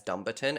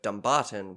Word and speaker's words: Dumbarton: up because at i had initially been reading it as dumberton and then this afternoon as i was finishing off my notes before we started recording i was like just gonna double check the pronunciation of that and found out that my initial instinct of dumbarton was correct and so now i'm trying to un i'm trying to catch myself and say dumbarton instead of dumberton uh anyway